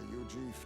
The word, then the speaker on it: Eug: world sees me a eug Drifter a disgraced Knight condemned by the sanctis uief that's how it's pronounced what couldn't they pin on me it's like Eugene but e instead of E they cast me out